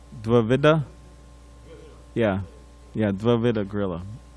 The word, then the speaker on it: Dvivida: Dvivida? Yeah, Dvivida Gorilla. Not Dravida Gorilla, but Dvivida.